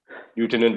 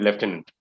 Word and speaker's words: lieutenant: correct spelling okay afternoon yeah that's how we pronounce it lieutenant lieutenant okay yeah well guys so thank you this